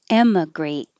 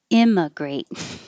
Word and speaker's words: emigrate: not making them different but i'm really trying to have e like head for the e immigrant i mean great